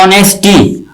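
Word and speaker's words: honesty: ठीक है, उसी तरह ऑनेस्टी। ऑनेस्ट ये एक क्वालिटी है, उस क्वालिटी का नाम पड़ गया ऑनेस्टी। ठीक है, इसमें एच साइलेंट है, ऑनेस्ट से बना ऑनेस्टी।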